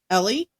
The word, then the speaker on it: Ely: It's literally E L Y. Ellie.